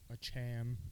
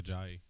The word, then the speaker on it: Ajayi: How do you pronounce his last name? A Cham, Mm. I believe. A-Chain. No. You're talking about Jay Ajayi.